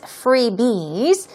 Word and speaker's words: freebie: the plural form as freebies stress goes on the first syllable freebie freebie it's like a gift